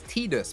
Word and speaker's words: Tidus: you hear me it's Tidus bro that's how his name said no no officially officially from Square Enix officially it's tus but it's spelled Titus my name's not midus